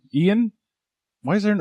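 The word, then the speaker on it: Ioan: Starring, is it Iowan? How do you pronounce the name? Ian?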